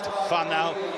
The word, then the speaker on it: whānau: out to the Seymour whānau and Tokoroa who'll be watching from the couch and cheering the teams on. It's a beautiful New Zealand word, whānau, W-H-A-N-A-U, pronounced whānau.